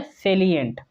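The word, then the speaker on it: salient: साइलेंट दिया हुआ, साइलेंट देखिए ये अलग साइलेंट है, SILENT साइलेंट नहीं है, यह है सेलिएंट।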